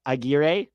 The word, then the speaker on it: Aguirre: It's pronounced Aguirre. Aguirre. You're right. Thank you, Greg. You're right. Aguirre. Yes. Spanish pronunciation, not my strong suit.